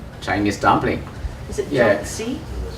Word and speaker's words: 饺子: jiaozi? Jiaozi?